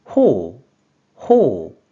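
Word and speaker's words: 頬: 협이라는 한자가 됩니다 그럼 이번에는이 한자에 대한 일본어 발음 확인해 볼게요 먼저 뜻으로는 호 호 또는 호호 호호라고도 읽어주고 한편 음으로는 쿄 쿄라고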